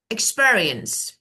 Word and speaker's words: experience: Okay, the next one is experience as a verb, as a noun. Let's see. Experience. Second syllable.